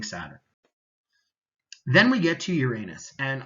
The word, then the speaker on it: Uranus: Then we get to Uranus, and a lot of astronomers will pronounce it Uranus so that we can avoid all the Uranus jokes, but if we were